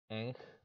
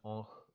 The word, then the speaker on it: ankh: So perhaps a better pronunciation, more Egyptian, is Ankh, but we pronounce it Ankh because of convention learned from French, which is why it has that old nasalized consonant.